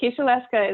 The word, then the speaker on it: Kisielewska: Kisielewska is perfect.